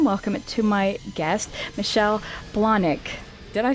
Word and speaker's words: Blahnik: So I want to give a warm welcome to my guest, Michelle Blahnik.